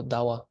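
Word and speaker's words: ཟླ་བ: means Moon we say if the ba is in the second syllable it becomes wa so dawa you guys I'm sure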